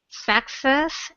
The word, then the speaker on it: success: Success is not final. Failure is not fatal. Is not fatal. It's the courage to continue that counts. So success, second syllable strong. Success.